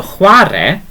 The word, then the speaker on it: chwarae: So it's that sound again. Okay, very soft sound.